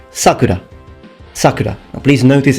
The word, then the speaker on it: Sakura: notice it's not pronounced Sakura it's Sakura the term means cherry blossom it's just that when you use it as the name of a girl the pronunciation shifts toward the beginning towards the beginning so Sakura whereas when